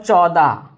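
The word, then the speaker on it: चौदह: Number 14, it is called chauda. Now here also I will say that you must say chaw, not cho. It's a chauda.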